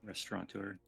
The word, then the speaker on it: restaurateur: I can't even pronounce this. It's too Restaurateur? fancy. Yes. Restaurateur.